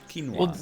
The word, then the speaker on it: quinoa: I was like, How hell is yeah. it pronounced? Is it? It's quinoa, right? Quinoa. Yeah. Quinoa. Well, that just changed the whole question, didn't it? yeah. I definitely called it quinoa until someone was like, "Hey